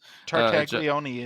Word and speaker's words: Tartaglione: Tartaglione is how that's Tartaglione, pronounced.